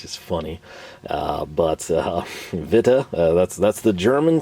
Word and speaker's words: Witte: Uh is it uh Vita? And it is. Again, I think that translates over as white uh in English. I like to say witty personally. I know that's 100% incorrect.